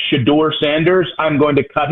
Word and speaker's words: Shedeur: some point, by the way, is the correct pronunciation, Nick. You're mad at him saying Shedeur.